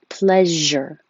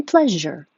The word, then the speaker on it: pleasure: to go please and it's the sh with voicing pleasure my pleasure it's the symbol in ipa dreary i'm going to